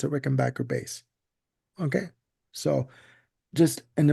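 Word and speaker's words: Rickenbacker: Backer if you listen to Tom Petty it's pronounced Rick and Backer Bas now um his bass playing using the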